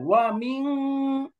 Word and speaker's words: ومن: হ্যাঁ, ইকফাটা অনুস্বারের মতো যেন হয়, ওয়া মিন, মিন, মিন, নুনটা পরিষ্কার হবে না।